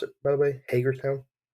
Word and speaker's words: Hagerstown: Is that how you pronounce it, by the way? Hagerstown. Yes, it's Hagerstown.